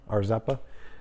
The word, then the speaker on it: Rzeppa: See, I said it right this time, Arzeppa.